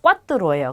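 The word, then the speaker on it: cuatro: 숫자 4가 꽈뚜로예요. 근데 네 번째는 꽈르토라고 합니다. 그래서 발음을 조금 다르게 해주셔야 돼요.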